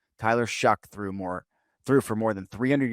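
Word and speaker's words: Shough: Shuck. Tyler Shuck threw for more than 300 yards against the Jets.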